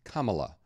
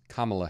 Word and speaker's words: Kamala: American Journey but first her name is pronounced Kamala like a comma followed by LA like la-dee-da so it's Kamala Harris I will probably